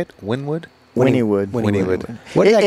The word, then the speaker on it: Wynnewood: Wynnewood?